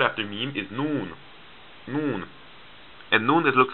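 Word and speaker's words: ن: letter after meme is noon and noon it looks like this noon it hangs down like this and it makes the letter n sound now for arabic it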